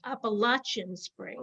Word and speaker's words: Appalachian Spring: perform aaron copeland's well-known sweet from appalachian spring appalachian spring is how it's pronounced including the famous peace simple gifts this